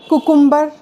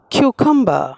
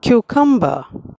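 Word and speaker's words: cucumber: নো ইটস আন প্রায় আনপ্রাণ শসাকে অনেকে বলে কুকুম্বার কেউ বলে কুকাম্বার নো ইট প্রোনাউন্স কিউকাম্বার কিউকাম্বার সবজিকে আমরা অনেকে বলে থাকি ভেজিটেবল ইটস নট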